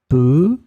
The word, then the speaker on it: peu: In this lesson, we will discover together two words that are written differently but pronounced the same way. Peu, peu.